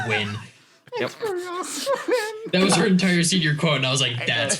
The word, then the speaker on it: Nguyen: this girl her last name was um it's ng u y en yeah in her semen it's just it's pronounced twin those are entire senior quote I was like